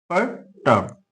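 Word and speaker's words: perturb: ठीक है, पर्टर्ब, are silent रहेगा।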